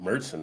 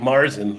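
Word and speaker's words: Märzen: I haven't cracked it open yet, but I do appreciate the pronunciation of Merson there by you guys. It's not not like Marsen like a lot of Americans.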